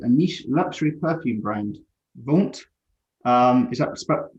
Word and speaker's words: Vaunt: He most recently founded a niche luxury perfume brand, Vaunt. Is that pronounced right?